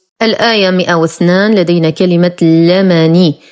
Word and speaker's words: لمن: الآية 102 لدينا كلمة لمني بفتح اللام وليس بكسرها، ولقد علموا لمن اشتراه وليس لمن اشتراه وهذا خطأ.